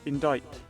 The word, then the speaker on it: indict: It is pronounced as indict.